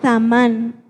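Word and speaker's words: zamán: viene del original Samán con Z al principio y acento en la última A, que es Samán, el cual su significado, uno de sus significados es planear, pensar y resolver.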